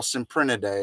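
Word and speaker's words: Cyprinidae: and they're all members of it they're all symprint a day if you're a corpse imprinted day koi sin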